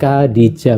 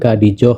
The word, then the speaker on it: Khadijah: Seperti Khadijah itu sebenarnya Khadijah, bukan Khadijoh atau Ya.